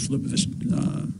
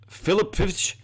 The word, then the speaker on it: Filipovic: But I think his name is pronounced Michael Filipovic. I don't think it's how he just said it.